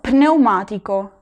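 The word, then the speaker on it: pneumatico: En italiano no, en italiano se tiene que pronunciar lo psicólogo, lo pneumático. En español esta P en español diríamos neumático. En español no se pronuncia, pero en italiano sí, lo pneumático.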